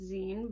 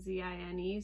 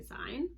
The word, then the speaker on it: zine: zine is like short for magazine so it's pronounced zine but it's spelled like z-i-n-e so some people say sein but it's a zine um and essentially the